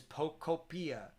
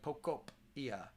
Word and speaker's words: Pokopia: Apparently, the proper way to pronounce Pokopia is Pokopia, like cope, like Pokopia.